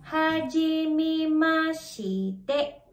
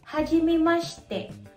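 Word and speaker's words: はじめまして: Kung babasahin mo siya para itong hajimi mashite. Pero actually pino-pronounce ito as hajimi mashte. Hajimi mashte. Kung mapapansin niyo nawala yung letter I. Ang tawag doon ay vowel divoicing.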